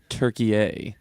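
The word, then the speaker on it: Türkiye: They basically asked to now be pronounced as demanded. Turkey a Yeah.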